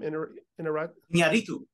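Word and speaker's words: Iñárritu: Inarito.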